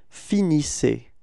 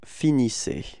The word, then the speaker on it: finissez: So you can see that the ending, the last two letters, so EZ, are pronounced like E. Okay. IC. All right. And you get the form vous finissez. Repeat. Vous finissez.